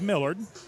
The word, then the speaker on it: Millard: I think half the time I said it one way and half the time I said it right, but it is Millard.